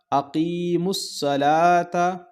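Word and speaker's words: أقيموا الصلاة: अकीमुस्सला, ता ज़बर ता, अकीमुस्सलाता। ठीक है, यहाँ ये वाव भी साइलेंट होगा और ये वाव भी साइलेंट होगा, रस्मुल ख़त में लिखा गया है लेकिन पढ़ा नहीं जाएगा।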